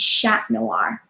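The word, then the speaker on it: Chat Noir: black cat right and in French it's shack noir so I don't know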